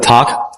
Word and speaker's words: talk: Terus selanjutnya ada berbicara. L-nya juga nggak dibaca. Talk.